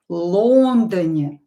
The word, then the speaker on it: Лондоне: So here, Лондоне, the first syllable is stressed.